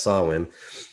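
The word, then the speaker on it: Samhain: ancient Celtic spiritual tradition in modern modern times sawin a word pronounced sawin is usually celebrated from October 31 1st to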